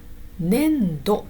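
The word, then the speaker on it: 年度: 年度と読みます。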